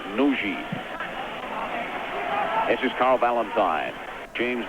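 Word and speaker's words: Nagy: back to the captain noi spelled n a g y but pronounced Nui this is Carl Valentine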